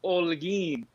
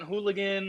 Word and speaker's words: Holguin: that's a good question pretend that h isn't there the h is silent and it's pronounced all again and pretending you isn't